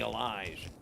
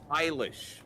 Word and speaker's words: Eilish: So you'll see her name around other places and you'll go, oh, that's Billy Elijah. How is it meant to be pronounced? Eilish.